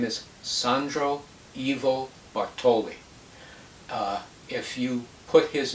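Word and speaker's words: Sandro Ivo Bartoli: bar on youtube and it's spelled exactly the way it sounds sandro s a n d r evo ivo bartoli b-a-r-t-o-l-i he's a concert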